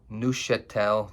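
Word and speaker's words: Neufchâtel: Um but um my go-to is cream cheese and they do have something called nettel cheese. It's French. Um, so the F is silent.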